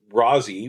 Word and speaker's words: Rosie: as you could get and Rousy which is how her friends would pronounce it grew up in Forest